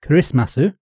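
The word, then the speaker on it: クリスマス: so Christmas in Japan or as it's pronounced in Japanese kism masu isn't a national holiday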